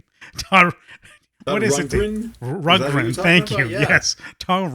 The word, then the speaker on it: Rundgren: I can't pronounce his name. Todd. What is Rundgren? it? Rundgren.